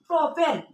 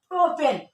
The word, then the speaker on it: প্রোপেন: আর অ্যালকেনের উচ্চারণ হচ্ছে এন। অ্যালকেনের উচ্চারণটা কি হবে? এন হবে। তা আমি যদি এন বসে দি এখানে তাহলে উচ্চারণ হবে কি? প্রোপেন। কি উচ্চারণ হবে? প্রোপেন এইভাবে কিন্তু এক বন্ধনটা